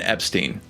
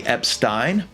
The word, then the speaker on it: Epstein: And I call this man Brian Epstein. That's drawn some attention from viewers of other videos that I've made. And that's understandable. Haven't we heard other people, like those who knew him, say Ep-stine?